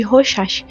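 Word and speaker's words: Rorschach: Na prisão, Elisa realizou o teste de Rochah. Gente, eu pesquisei se é assim que se pronuncia e e apareceu assim. Então é assim.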